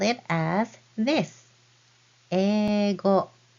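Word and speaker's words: 英語: The word for English in Japanese is eigo. Eigo. You spell it as this. Ego. Eigo is how you spell it, but you pronounce it as ego.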